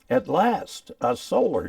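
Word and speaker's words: Atlasta Solar: solar store uh now if you were to pronounce that slowly it would be at last a solar store and I think that's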